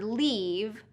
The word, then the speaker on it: leave: So long E for leave, don't leave me here, and short I for live.